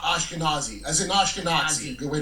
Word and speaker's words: Ashkenazi: Uh well, just remember Nazi. It helps you remember what Ashkenazis are.